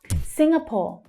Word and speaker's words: Singapore: Singapore. Singapore. Singapore. It's the first syllable that's stressed. Sing, we have that consonant sound. Sing, sing, that unstressed vowel sound.